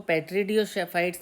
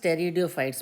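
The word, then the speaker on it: Pteridophytes: इसको पेट्रिडियोफाइट्स नहीं बोलेंगे, इट इज़ टेरिडोफाइट्स, पी is silent area.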